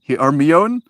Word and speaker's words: Hermione: Hermione? It was pronounced Hermione.